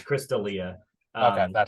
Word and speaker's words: Chris D'Elia: It's Chris D'Elia. okay, Um. that's how you pronounce it.